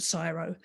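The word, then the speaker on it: CSIRO: australia's science um foundation it's it's spelt in a strange way it's c-s-i-r-o in australia we call it cyro and also ai sorry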